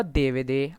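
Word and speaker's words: DVD: डीवीडी को देवे दे, हाँ भाई फ्रेंच में ऐसे ही प्रोनाउंस करते हैं, ठीक है। प्रोनाउंसिएशन पे ज़्यादा ध्यान नहीं देना, डीवीडी बोलना डीवीडी बोलो, देवे दे बोलना देवे बोलो, ठीक है।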